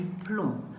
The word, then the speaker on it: plomb: dernier s'éteint au piège le b ne se prononcent pas donc on va dire du plomb le plomb est un